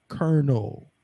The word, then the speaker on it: colonel: the proper product and I'm going to show you the proper pronunciation of this word that is on the board is Colonel y'all understand what we're